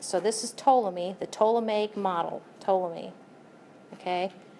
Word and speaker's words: Ptolemy: You pronounce this Ptolemy. I know it looks like Ptolemy, but the P is silent. So this is Ptolemy, the Ptolemaic model, Ptolemy.